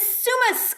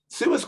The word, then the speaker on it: Summus: Summus Global, which is pronounced Summus, not Summus, despite the fact it has two M's and they don't know how to pronounce themselves.